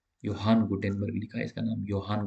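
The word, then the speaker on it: Johann: में गुटेनबर्ग जो है योहान गुटेनबर्ग लिखा इसका नाम योहान गुटेनबर्ग भले लिखा जे जो है लेकिन इसको ऐसे भी बोला जाता है योहान गुन बट य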